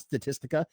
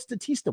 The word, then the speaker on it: Statista: a pretty big statista i'm not even saying it right it's not statistica it's statista i didn't even know what statista was and i went